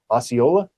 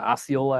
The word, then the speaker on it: Osceola: 1989 goes to, and I always get this name wrong, Osceola Astros. Yeah, Osceola Astros.